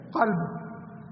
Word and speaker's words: قلب: گیا۔ اسی طرح قلب موٹے قاف کے ساتھ قلب ہے، اس کو دل کو کہتے ہیں قلب، اور کلب پتلے کاف